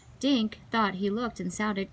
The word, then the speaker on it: Dink: Dink, Sammy repeated. That rhymes with think and pink and stink.